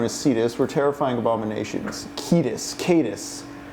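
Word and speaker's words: Cetus: Cedus. Ancient Greek sea monsters known as Cedus were terrifying abominations. Ketus. Cadis. There's no soft C in Latin.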